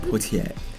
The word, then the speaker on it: Poitier: It's Sir Sidney Poitier. Let's say it correctly. Sir Sidney Poitier. Sidney Poitier. You gotta say it like that, Poitier.